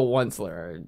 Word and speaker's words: Once-ler: the outslayer no it's it's it's definitely the once-ler it's spelled o-n-c-e oh i know it's once upon